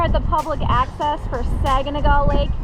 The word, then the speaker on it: Saganaga: the public access for saganaga Lake yes pronounced saganaga not saganaga or how else do people say it Saga yeah Saga it's super freaking windy